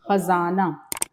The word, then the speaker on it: خزانہ: ختم ہو جائے گا۔ خزانہ تلفظ صحیح ہونا چاہیے، خزانہ۔ اچھا دیکھیے، یہ جو